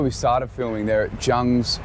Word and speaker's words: Jung: So you saw where we started filming there at Jung's, or Jung, it's the Korean way to pronounce it, Jung's restaurant.